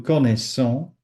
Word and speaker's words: connaissons: So, il, elle connaît, then nous connaissons, don't forget the double S is a big S. Nous connaissons, vous connaissez, il, elle connaissent.